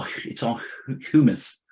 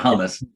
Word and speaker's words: humus: But after the fourth storm, because our it's all humus. How do you say that? It's not hummus. That's a delicious treat.